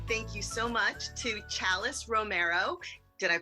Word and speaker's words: Chalis Romero: want to say thank you so much to chalis Romero did I pronounce that correctly yes yay here today she